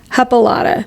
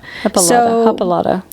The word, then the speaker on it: Hippolyta: If you guys can't tell, we're having a tough time saying it because the words the letters do not match it phonetically. Yeah, it's hippo. Hippolyta. Hippolyta.